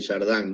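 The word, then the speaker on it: Chardin: a Tyler de jardan de jardín se escribe yo lo siempre lo he pronunciado de jardan no y el texto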